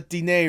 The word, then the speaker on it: Diné: I did pronounce the the DA right, correct? Like I Yeah, it's Da and Navajo.